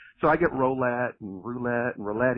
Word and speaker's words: Rolette: one the only roulette just like the roulette wheel right absolutely that's